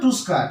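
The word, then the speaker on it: tusker: দাতার হাতি তাহলে আনসারটা হবে আস্ক টুস্কার আনসার উচ্চারণটা হবে টুস্কার টি টা বড় করলাম টি ইউ এস কে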